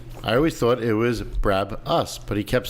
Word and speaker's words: Brabus: However, he kept correcting my pronunciation of Brabus. I always thought it was Brab-us, but he kept saying Brabus.